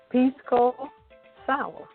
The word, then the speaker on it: Pisco Sour: It's called the Pisco Sour. Did I pronounce that right, Redwine?